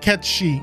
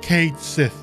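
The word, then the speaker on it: Cait Sith: very distinct and yes I said Ki not K Sith that's not how it's pronounced it's a gayg name in fact in Japanese it's pronounced correctly and it's only mispronounced in English and yes I play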